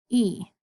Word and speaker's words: y: It's pronounced E. So if I said, estoy bien, ¿y tú? E. That Y, you just say E.